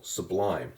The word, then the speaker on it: sublime: you say the word sublime to yourself you'll hear how the lime syllable is the stressed syllable sublime it gets more emphasis than the sub part so for that reason